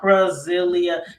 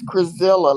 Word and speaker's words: Crazilla: It's called Crasilia. Is it? Am I even saying it right? Is it No, Crasilia or no, how it's do you say it? It's Crazilla, like gorilla.